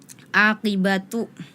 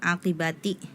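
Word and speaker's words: عاقبة: attagabun kholidina bukan kholidaini kemudian di surah attalaq aqibatu tadi dibacanya aibati ya kemudian di surah at-tahrim ayat ke6 La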